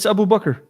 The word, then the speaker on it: Abu Bakr: Let me ask you something, because was it just me, or are they mispronouncing his name? His first name? Correct. It's Abu Bakr.